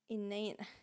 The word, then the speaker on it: inane: own thing uniting laughter playing inane okay oh it rhymes with plain oh that's nice that's